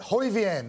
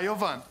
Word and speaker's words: Jovan: We've got Hoivian. The J is silent, I think. Hoivian from Riverwood. Where are you, buddy? Did I get it right, Hoivian? No, Jovan. Oh, Jovan. How stupid of me.